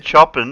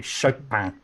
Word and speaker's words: Chopin: I said chopping and before with somebody in the Peanuts. Say it properly, Chopin.